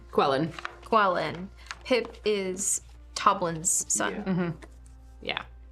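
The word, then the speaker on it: Qelline: is the mom's name quellen quellen qu q e l l i n e qu I'm pronouncing it Quin because I don't want to deal with trying to figure that one out I mean it's like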